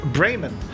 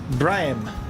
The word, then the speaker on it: Bremen: uh no ivan says the germans pronounce the city bremen the locals pronounce it brian always good to know